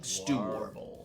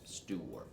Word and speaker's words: Stoowarb: So a good way to remember how to pronounce Stoowarb is that the second syllable there is a riff on to warble, to sing. Stoowarb. Stoowarb.